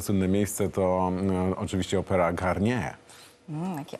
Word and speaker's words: Garnier: A to słynne miejsce to oczywiście opera Garnier. Jaki akcent francuski. Garnier.